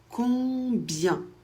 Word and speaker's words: combien: On prononce le B. et i e n ça fait y ça fait combien ?